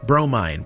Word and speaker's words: Bromine: Steam Vision, conductor of the interdimensional time-spanning hype train, Dave Harold, Wisecube, Dirty Diaper Fussbutt and the Piggy Runt, Bromine, pronounced Bro, Mine, Main Humdinger, Mother of Pearl, Fiona